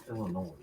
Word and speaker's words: Illinois: so I learned how to say it correctly Illinois Texas lady says New Orleans oh okay well